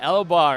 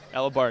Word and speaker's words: Elobar: Elobar. Am I pronouncing that correctly? Yes. Elobar, nice, man.